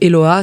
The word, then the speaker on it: Eloha: J'ai une page Facebook aussi, donc là c'est Eloa, c'est mon prénom, L-O-H-A toujours. Et puis j'ai un TikTok aussi, mais il est pas très actif. Mais vous pouvez me trouver aussi, c'est Eloa Music.